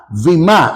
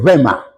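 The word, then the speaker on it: βήμα: al 15 segundo término vima o vema se escribe ve grande y m vima se pronuncia en el griego vema Este término en su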